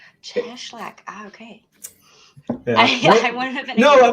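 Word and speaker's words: Cieślak: say your last name I mispronounced that it's yeah it's actually cheslak cheslak okay I would have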